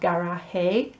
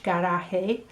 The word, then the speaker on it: garaje: And I would like you to notice that the E on the end of a word, where it doesn't always sound in English, en español, sí. So they have garaje, and we've got that A sound on the end for garage, garaje, and chocolate, chocolate.